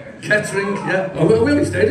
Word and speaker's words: Kettering: It's just two syllables. Kettering, yeah.